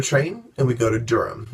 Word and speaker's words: Durham: Then day 4, we wake up and we get on another train and we go to Durham. Durham is where we met a friend of Michael's named Peter.